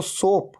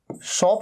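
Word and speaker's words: soap: अब जब आप अपनी बॉडी पे साबुन लगा रहे हैं तो सोप, सोप मतलब साबुन। अच्छा, इसे सोप कहना है, सोप, इसे शॉप नहीं कहना है।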